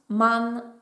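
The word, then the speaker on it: 万: n'existe pas chez nous en japonais ont la prononce man man et ce man comme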